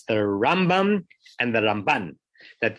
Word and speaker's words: Rambam: is that it's the Rambam and the Ramban. That the Ramban gets the stress on the second syllable, and the Rambam gets the stress on the first syllable, so that you're not making a confusion.